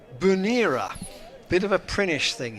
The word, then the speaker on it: Bernera: And Pete says, watching from the stream from northwest Sutherland, where it's very wet, Bernera on Lewis is pronounced Bunera.